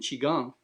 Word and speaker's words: Qigong: And I'm saying Qigong because that's how you pronounce it. Everybody sees Qigong. It's like Gunk, Qigong. It's like Okay. Qigong. And that's the real pronunciation.